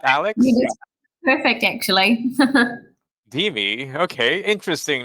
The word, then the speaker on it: DeMe: I was kind of challenged on how to pronounce the name. We got You Alex, did perfect, actually. DeMe.